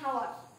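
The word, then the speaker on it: hour: তারপরে এন হাওয়ার, এটা কিন্তু ব্যতিক্রম। হাওয়ার এইচ থাকা সত্ত্বেও এখানে এন বসলো, এন হাওয়ার। এখানে কিন্তু এইচ এর উচ্চারণ হচ্ছে না, এখানে কনসোনেন্টের মানে ভাওয়ালের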